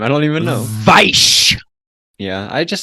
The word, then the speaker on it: Weisz: Yeah, and he like did research on how to pronounce it, so I've never forgotten that. Weisz.